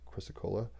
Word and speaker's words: chrysocolla: you can quantumly entangle with this maybe i'm pronouncing this chrysocolla c-h-r-y-s-o-c-o-l-l-a chrysocola what it is put this down what it